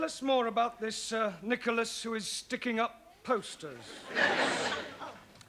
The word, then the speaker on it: Nicholas: upon a times there was a man called nickel ass it's not quite right no no once upon a time there was a woman called nich as it's pronounced Nicholas all right once upon a time there was